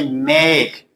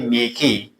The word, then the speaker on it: make: Like the word say make, we don't say makey.